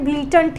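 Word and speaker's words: blatant: इसमें BLA है, लेकिन इसका प्रोनाउंसिएशन ब्लीटेंट ही होता है, जिसका मतलब आप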